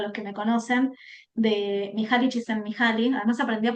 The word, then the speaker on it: Mihaly Csikszentmihalyi: Yo siempre hay una frase que traigo hasta el cansancio para los que me conocen de Mihaly Csikszentmihalyi. Además aprendí a pronunciarlo y me siento muy feliz conmigo misma.